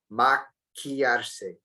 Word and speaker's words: maquillarse: Maquillarse. Careful with the pronunciation here, the Q-U-I, it's key, like the key that you put in a door in English, right? It's not qui.